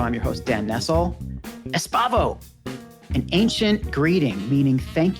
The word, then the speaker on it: Espavo: are not pronouncing it wrong. You are pronouncing it. It sounds very much a Spanish word. So I appreciate you pronouncing it, in my opinion, properly.